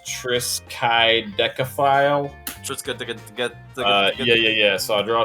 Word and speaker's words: Triskaidekaphile: It's Triskaidekaphile.